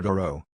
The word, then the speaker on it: Dorough: in the 20th century mr. duro rhymes with Thoreau his wife said Theodora